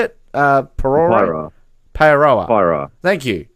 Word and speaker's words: Paeroa: It's Parora. How do you say it? Parora? Paeroa.